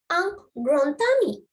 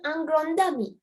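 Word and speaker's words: un grand ami: මෙතන ungrown tummy. Ungrown tummy. The T sound, it's not ungrown dummy, it's ungrown tummy. D is pronounced as T.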